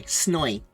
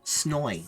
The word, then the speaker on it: Snoy: Snoy. Yeah, it's pronounced S-N-O-I. Snoy. Snoy.